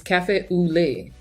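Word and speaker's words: café au lait: cafe a lot oleate how to pronounce L AIT in French cafe au lait I feel like I'm singing leave oh I'm wrong on that too it's cafe au lait a little first lesson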